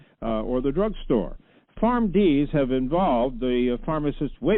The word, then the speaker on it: PharmD: the existence of a PharmD? And am I saying it right, a PharmD? That's right? That's correct. And I would agree.